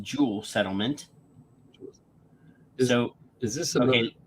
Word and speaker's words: Juul: started at 2 yeah J uul pronounced Jewel settlement could juul l pronounced Jewel settlement so is this